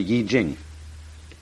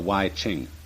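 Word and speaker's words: I Ching: book of changes called the Y Jing not the Y Ching I'm afraid that the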